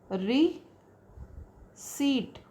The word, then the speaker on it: receipt: receipt receipt p h so that is re seat Repeat P is silent here.